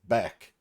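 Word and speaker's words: 백: Uh, the word for 100 in Korean is beck. Uh, b a e k I think is how you spell it. I may be mispronouncing it, but it sounds very similar to back.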